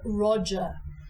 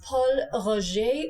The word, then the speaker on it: Pol Roger: a really great champagne don't say Ro like the man's name Roger it's Paul Ro or to dial Don to English Paul R really easy one more time Paul Ro the next champagne is